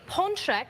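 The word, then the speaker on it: pączek: popular treat is this the ponek which is singular or if there's more than one ponki a lot of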